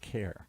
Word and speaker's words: Ware: It doesn't rhyme with Karen, but it rhymes with care.